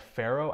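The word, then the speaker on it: Pharo: of small talk environment something like pharaoh i think it's how it's pronounced ph aro it's a fascinating thing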